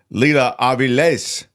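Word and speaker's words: Lila Avilés: that terrific Mexican filmmaker Leela AES thank you for the proper pronunciation it has the accent of the the end there so that's why I did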